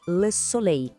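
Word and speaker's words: soleil: Em francês, a gente diz le solei. Esse som final, ei soa como o nosso ei.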